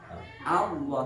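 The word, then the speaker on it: الله: Jadi A diingat-ingat tidak O tapi A. Allah, jadi Allah. Jadi nanti kalau diajukan Allah tapi A. Ya, karena ini bacanya tarkik ya. Kalau O kan itu kan berarti dia tafkhim karena dia monyong. Cirinya tafkhim itu kan kan monyong. Kalau O kan berarti tafkhim pada ini tarkik A.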